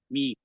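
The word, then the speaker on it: μι: Oke, ini alfa, beta, grama, delta epsilon, zita, ita, tita, yota, kapa, lambda miu, mi, mi, mi, mi ya bacanya mi ini mi Iya ya dari sini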